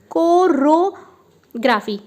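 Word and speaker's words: chorography: लेकिन the next one इज कोरोग्राफी। एक है कोरियो। देखिए आप स्पेलिंग को ध्यान से देखिएगा, कोरियो, और ये है कोरो।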